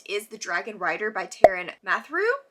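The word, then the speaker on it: Taran Matharu: Kicking us off on April 2nd is The Dragon Rider by Taryn Mathrew, I believe is how you say that.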